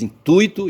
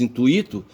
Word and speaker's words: intuito: Da mesma forma como você diz intuito e você não diz intuíto, tá certo?